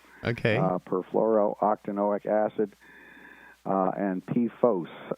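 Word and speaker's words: PFOS: perfluoro-octanoic acid uh and p-fos uh p f o s i try to pronounce that to distinguish it from p fast uh that's uh perfluoro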